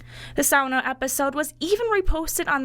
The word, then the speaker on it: sauna: The word is sauna, not sauna or sauna, it's sauna.